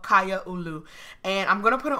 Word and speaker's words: Kaiaulu: this LP is called kya aloo and I'm gonna put it on the screen right now so you can see how it's pronounced it is Hawaiian and it means community